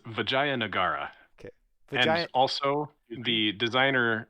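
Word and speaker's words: Vijayanagara: talking about is called VJ anara believe I pronounced that correctly nope you're braver than I am well okay soie please correct my pronunciation yes it's vagay nagara okay and also the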